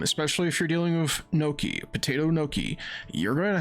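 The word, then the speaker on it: gnocchi: in the past a it's spelled g n o c c hi I I believe and it's spelled Noki yeah those are spelled Noki they're they're pretty much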